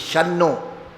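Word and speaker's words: शं नो: But the Vedic pronunciation is Shanno mitra, it is Shanno. Because Nakara comes, the Makara will become Nakara. Shanno mitrasham varunaha, Shanno bhavatvar yama. So it is Shannaha, like that. It is not Shamnaha.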